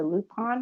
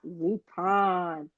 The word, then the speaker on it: Lupin: Although I'm still going to say Lupin because it sounds weird to me saying Lupin because I'm not French. You got to say it the way that it's supposed to be said.